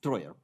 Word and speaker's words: Treuer: It's a German name. Since I'm German by citizenship, I pronounce the German name, German way, and it's Troyer.